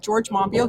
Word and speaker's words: Monbiot: One is by George Monbiot, spelled Monbiot. Don't pronounce the T. George Monbiot.